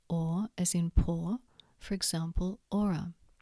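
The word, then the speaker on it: hora: H is usually silent, for example, ora, ostia.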